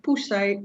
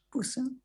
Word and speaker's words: puse: No recuerdo donde puse mi abrigo de invierno. Yeah. Pusse. Puse. Puse. Yeah. Puse. Like calling the cat.